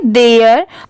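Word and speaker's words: there: एच ई आर ई इसे हम क्या पढ़ेंगे देयर और बहुत सारे जगह पर टी एच ई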